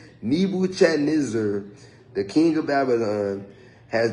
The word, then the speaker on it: Nebuchadnezzar: I ain't gonna hold y'all on pronouncing that, but his name is so hard. It's Nebuchadnezzar, the king of Babylon, has devoured me.